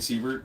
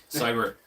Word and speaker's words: Siebert: I consider the man to be a friend of mine, and I've been saying his last name wrong this whole time. You've been saying Siebert? Yeah, Yeah, it's yeah. Cyber.